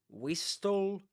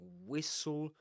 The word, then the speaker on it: whistle: So t l e, but you don't say wistl castle nor nestled. You say whistle, castle, nestle, or nestled in the simple past.